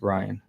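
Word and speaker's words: Rhyne: quick helpful pronunciation detail rin is pronounced ryan okay good to know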